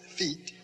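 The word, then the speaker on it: phi: long e as in feet the fee is f or the ph sound in english fee and then he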